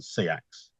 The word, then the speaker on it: Seax: It's spelled Sax or Seax, isn't it? So it could be either. Okay. Most people tend to settle on Seax.